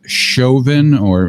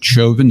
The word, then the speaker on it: Chauvin: voice of the cop whose name is Derrick Chauvin or maybe it's pronounced joven CH o u VI n that's the name